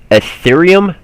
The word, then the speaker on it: Ethereum: let me be sure i say it right ethereum e-t-h-e-r-e-u-m ethereum okay so as i understand it